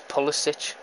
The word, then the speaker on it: Pulisic: It's Pulisic. You need to fix commentators to pronounce names properly. Or I'm going to get Google fucking Translate. Fucking hell. Oh, ref, that's a fucking free kick. Fucking fair challenge, my ass. It's fucking Pulisic, not Pulisic.